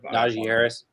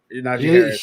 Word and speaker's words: Najee Harris: I mispronounced his name. Najee Harris. Najee Harris.